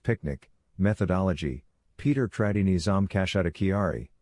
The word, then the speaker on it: PQNK: The solution follows the proven PQNK pronounced picnic methodology.